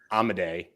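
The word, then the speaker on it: Amodei: we knew I wasn't going to get the pronunciation right but thank you be amaday uh did you did you just say pronunciation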